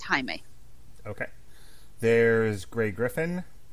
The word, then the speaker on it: Jaime: last oh god like almost 20 years there's Jaime Camil who was on Jane the virgin among other things slight note he is a Brazilian mix connector so it is pronounced Jaime okay there is gray Griffin who is an